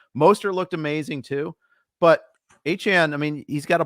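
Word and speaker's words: Achane: I think we do need to talk A-Chain, which, by the way, I saw a tweet this morning. It is not A-Chain. He's clarified that he wants it to be pronounced A-Chan.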